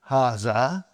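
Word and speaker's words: هٰذَا: Haza. Huh? See it is pronounced like ha.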